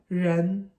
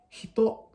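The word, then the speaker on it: 人: In Japanese, this same character can be read as hito, it can be read as nin, and it can also be read as jin.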